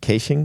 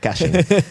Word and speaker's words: caching: quite cool, which is about-- how do you pronounce it? Caching? Cay-shing? MARK MANDEL: Cay-shing. FRANCESC CAMPOY: Yeah, that's wrong. Caching.